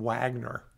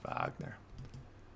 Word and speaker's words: Wagner: well dotting okay gotcha we're also saying wagner i don't think that's the pronunciation voc that's vagner all right so let's